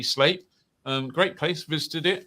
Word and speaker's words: Sleap: i got him right i was told if i called it sleep that my ppr request would be denied so it's definitely slate um great place visited